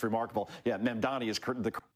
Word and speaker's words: Mamdani: Especially when you have, how do you pronounce his name again? Sharpton called him Mandam Annie. He added nine letters to the guy's name. It's it's remarkable. Yeah, Mandani is the correct way.